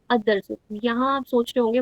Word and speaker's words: الدرس: सो हाउ डू we pronounce it? अदर्सु instead of अलदर्सु.